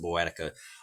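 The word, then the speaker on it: Boadicea: Leopard, Sirius, and Boadise. That's how it's that's how it's spelled. Anyway, I know it's Boat. I I pronounce it Boatica. I think that's the the historic term.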